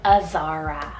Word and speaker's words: Azara: a wonderful girl sibling to zenner I love Azara it's about a said z a r a